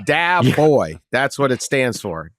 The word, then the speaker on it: Dabo: I guess uh Dabo did you used to pronounce it dbo yeah yeah you did didn't knew dbo yeah I knew it it's not a real word it's not a real word yeah it's dab boy that's what it stands